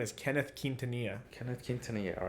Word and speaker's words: Quintanilla: My name is pronounced Quintanilla, and I guess when I was in the